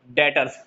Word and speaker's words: debtors: डेटर्स, DEBTORS, B silent रहता है।